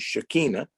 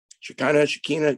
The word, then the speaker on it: Shekinah: field in Hebrew is the word Shekinah Chicana different people pronounce it different ways you know obviously what they know Hebrew or not and that number is